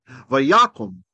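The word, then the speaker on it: ויקם: Shava, at Be'er Sheva, Vayakum. Notice it's an O on the second one because this is a closed unaccented syllable.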